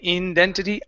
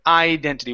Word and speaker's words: identity: there you go yeah instead of saying indentity identity one more time identity